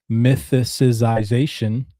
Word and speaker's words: mythicization: This mythicization, I still said it wrong. Mythicization. There's no xi in there.